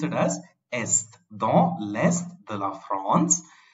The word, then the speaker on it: est: So we pronounce it as est, dans l'est de la France.